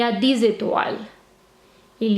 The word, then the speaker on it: étoiles: With a silent E and an S, because you're going to talk about stars. Étoile. And how many? 10. 10 étoiles.